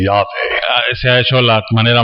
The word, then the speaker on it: Yahweh: No hay un problema en particular con eso, But no Hebrew would have ever said that. pero ningún hebreo hubiera dicho eso. A Hebrew would have said Yahweh. Un hebreo hubiera dicho Yahvé. And so when I am reading the Hebrew text, Así que cuando estoy leyendo el texto hebreo, I say Yahweh.